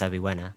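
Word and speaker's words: Avywenna: There is no letter V in the Polish alphabet, however, so I think we just pronounce this one as Aviwena.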